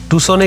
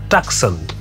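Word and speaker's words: Tucson: সি এস ও এন অনেকে বলে টাকসন আসলে ওটা উচ্চারণ হবে স্টেটে বলল আমেরিকার পশ্চিম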